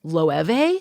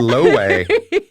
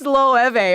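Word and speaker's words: Loewe: I was been pronouncing what I thought was low l-o-e-w-e-e is not pronounced that way it's it's low Eva what yeah oh I had low way yeah it's low have a or something so I said this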